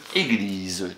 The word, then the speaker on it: église: Et le S entre deux voyelles se prononce Z, bravo. Une église.